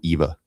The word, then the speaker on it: IWA: do is go to EVA, IWA. Uh, they don't pronounce W's, they pronounce them like V's in Germany. That's why it's called EVA.